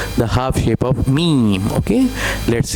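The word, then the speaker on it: ه: It is just like ha ha ha. Okay? And ha. This sound come from the lower portion of throat.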